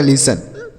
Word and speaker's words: listen: अब यहाँ क्या है, ये टी साइलेंट है, मतलब इसे नहीं पढ़ा जाएगा। ई और यन से न, इसे पढ़ा जाएगा लिसन। लिसन मतलब सुनना होता है।